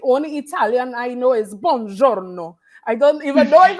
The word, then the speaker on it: buongiorno: And you're a better woman than me, because the only Italian I know is buongiorno. I don't even know if I said it right. Yours is, yeah, buongiorno.